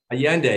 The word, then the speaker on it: Allende: San Miguel de Allende is that how you say it Allende yeah exactly yeah okay good good and